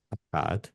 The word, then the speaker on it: Akkad: Eh, Akkad, se pronuncia.